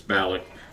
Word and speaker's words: Balak: Um, but I say Balak, it's Balak, but people don't ever know if is it Balak or Balik or Balak, or it's fun listening to it.